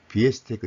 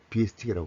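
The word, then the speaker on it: Biestek: 발음이 좋지 않습니다 그래서 원래는 비의 스택인데 저도 모르게 스테이크라 그랬거든요 그래서 뭐 우리가 공부하는 데서 스테이크 돼 있던 스테이크 됐든 아무 상관없지만 대중주기로 이야기할 때는 비스틱이라고 꼭 정확한 발음해 주시기 바랍니다 그래서 이것은 비에스테이크 아이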